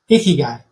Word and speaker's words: Ikigai: Ikigai. Easy to remember because it's like what you don't want your daughter to bring home for dinner, right? No Ikigai.